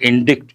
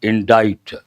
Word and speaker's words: indict: Here pronunciation you got to be careful. Not indict, indict.